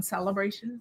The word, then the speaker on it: Sale-a-bration: $60 celebration like kind of a play on celebration oh I know and you pronounce it celebration but it's celebration celebration because